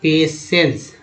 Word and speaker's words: patience: एक word meaning ले लेते हैं यहाँ पर, PATIENCE, उच्चारण क्या होता है? पेशेंस।